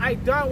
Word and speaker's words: Eden: When you go into that word Eden in the Hebrew, you pronounce it Aidan, which is paradise.